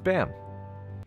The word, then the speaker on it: Bam: bam otherwise known as bam i know it's properly pronounced bomb but i'm just going to say bam because that's how i've read it for like six years okay i'm sorry bam